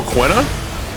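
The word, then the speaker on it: Quina: one character for final fantas C9 who o quna yeah even though technically I think it's pronounced Kina actually yeah it's pronounced Kina quinoa yeah you know I I I love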